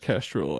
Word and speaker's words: Kestrel: a three dogs rocketry castril Kestrel oh yeah it is just pronounced Kestrel I believe but yeah they capitalized